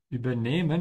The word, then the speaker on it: übernehmen: Übernehmen, you can see there's a dash under the E to help you pronounce and to know that the emphasis is on the E. You can also know that because there's an H after it, so the E has to be a bit longer.